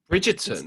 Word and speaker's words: Bridgerton: Bridgerton. Is it Yes, you say it so right. You pronounce it the English way.